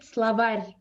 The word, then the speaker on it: словарь: We don't say словарь. We say словарь. So it's soft.